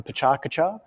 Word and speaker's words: pecha kucha: talking about something thematically like a pechakucha or pecha kucha depending on how you want to pronounce it just having just the